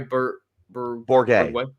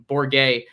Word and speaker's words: Bourguet: Sorry, Bourguet. Bourguet.